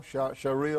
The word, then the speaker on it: Sharia: us a little bit about how do you pronounce the shiara law Sharia law Sharia law okay and Sharia law is